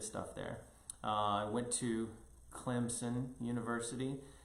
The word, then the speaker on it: Clemson: there i went to clemson university if you really went to clemson it's pronounced with a p and everybody will know